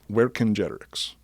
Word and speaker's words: Vercingetorix: were told by gigi the c's are a hard c sound they didn't use a soft c so it's where congenerics so without further further